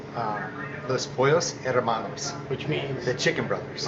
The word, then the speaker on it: Los Pollos Hermanos: How do you pronounce it? So it's Los Pollos Hermanos, Which means the Chicken Brothers.